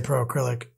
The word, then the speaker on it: Pro Acryl: say that word Kenny it's acrylic but it's shortened so I just say Pro acrylic I refuse to say